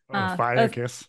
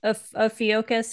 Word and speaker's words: Ophiuchus: Ophiuchus. Ophiuchus.